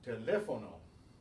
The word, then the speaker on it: teléfono: or an S, and we stress it on that syllable despite all of that. So, teléfono, teléfono, cómico, cómico, simpático, simpático.